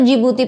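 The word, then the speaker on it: Djibouti: है एंड डी फॉर जिबूती okay D is silent तो हम इसको जिबूती पढ़ते हैं डी जिबूती नहीं पढ़ते डी इज़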